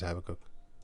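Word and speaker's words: Habakkuk: This is Habacook. Habacook. But it's spelled from the Greek into the English.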